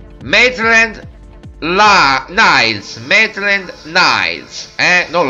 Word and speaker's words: Maitland-Niles: violi questo giocatore adesso vi faccio vedere come pronuncia mai trend la nails metri and nice hand on line mednet nines